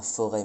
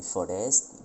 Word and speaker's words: forest: prononçait surtout les S, donc on disait pas forêt mais forest, pas hôtel mais hostel, pas bâton mais baston, et pas côte mais costé.